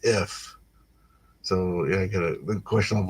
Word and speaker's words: IPH: So it's Shade notes the acronym IPH can be pronounced if.